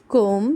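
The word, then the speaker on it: comb: Similarly M बी की sound में चाहे यह आपको बीच में मिले चाहे आपको एंड में मिले हमने बी को साइलेंट कर देना है। बी की साउंड लानी ही नहीं है।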